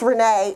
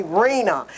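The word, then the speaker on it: Renée: when they call me my name is renee and it's spelled with an accent and an a they call me reena it's like we just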